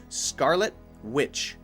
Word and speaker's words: Scarlet Witch: those together like that you still have to have the pause right the pause has to be there but we don't need to say the T so Scarlet Witch Scarlet Witch and there